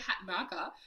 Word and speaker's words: Hatanaka: And today I have with me the amazing RJ Hat marker who told me before I pressed record because I was nervous about pronouncing the surname that I just have to lead into the Japanese of it.